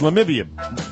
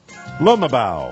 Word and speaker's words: Lumabao: butchered last week it's lamibia it's clint it's uh do you remember where we had this fight last week it is pronounced lumabao all right lumber bow i know it doesn't look right but this guy bow